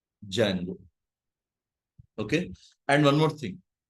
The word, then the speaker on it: Django: D is silent. Django.